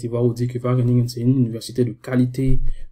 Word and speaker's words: Wageningen: Et comme vous le voyez ici à l'écran, en fait, je dis Wageningen, mais ça se prononce Wageningen.